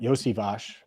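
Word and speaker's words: Iosivas: Charlie Jones, Andre Yosivash, and I know people are going to think it's something different. Yosivash is how you say his name.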